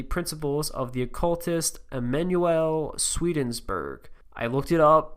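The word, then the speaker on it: Swedenborg: of the occultist Emanuel sweden's burg I looked it up that's how you pronounce it it's just Sweden and then Berg who's philosophies were said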